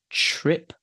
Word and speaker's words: trip: So the question is is the first sound t as in tin or is it ch as in chin? It's ch as in chin. So I would say ch as in chin. Trip, not drip.